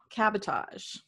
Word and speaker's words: cabotage: It's Cabotage. Cabotage. So it really is spelled like sabotage with cab in front.